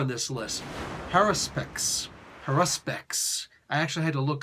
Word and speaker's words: haruspex: the way that I expected it to be pronounced. Haruspex.